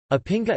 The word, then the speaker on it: Opinga: Opinga, Albanian pronunciation, pia, art sandals, are traditional shoes which